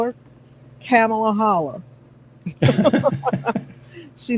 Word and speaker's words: Kamala: says I call her camela holla she says it's pronounced camela like Pamela that's a great way to remember it like Pamela uhhuh